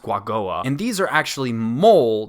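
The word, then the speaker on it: Quagoa: I think that's how you pronounce it, Guagoa. I'll put the actual spelling on the screen here, but I think it's pronounced Guagoa.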